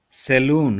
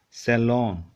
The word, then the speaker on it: salon: This saloon, we say. Actually, not saloon. It's salon.